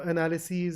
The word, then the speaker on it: analyses: This ES is pronounced as E's. So analyses, axes, crises.